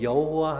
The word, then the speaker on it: 여호와: 헬라 로마 독일어로 번역하는데 독일 사람들이 야회 발음이 안 돼요 우리나라도 저기 경상도 분들은 쌀이 잘 안 되잖아요 쌀 발음이 잘 안 되는데 마찬가지로 호 발음이 안 돼요 그래서 발음을 한다는 것이 비슷하게 하는게 여호와가 된 거예요 여호와 뽀바 그것을 이제